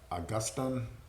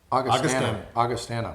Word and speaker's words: Augustana: How do you pronounce it? Augustine. Augustana. Okay, Augustana.